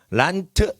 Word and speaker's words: Land: 물론 란드라고 하면 란드 이러면 힘들어. 그러니까 란트 이렇게 돼버리는 거예요. 란트 끝에는 트자로 해야지 사람 발음이 편해지거든요.